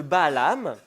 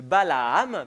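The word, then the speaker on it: Balaam: Et donc ce qu'il fait Balak, c'est qu'il envoie euh auprès de Balam, je l'ai mal prononcé, de Balaham plutôt, il envoie auprès de Balaham, fils de Béor.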